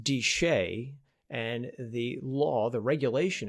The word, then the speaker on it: DSHEA: the dietary supplement health and education Act it's pronounced deshay and the law the regulation if you will